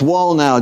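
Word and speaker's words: Wallnau: access sure it's lance wall now w-a-l-l-n-a-u pronounced like build the wall now facebook youtube if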